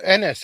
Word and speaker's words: Ennis: It's Ennis. It does not rhyme with penis.